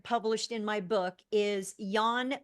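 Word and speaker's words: Jan: in my book is Yan V white it's pronounced Yan but it's spelled with a j j a n middle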